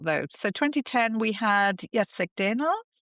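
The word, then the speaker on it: Jacek Dehnel: So 2010 we had Yatseek Denel.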